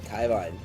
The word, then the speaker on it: Carnivine: Now we're going to have Dandori versus Carnivine. I just realized I've been pronouncing that amiibo wrong the whole time. Yeah, it's a Kaivine.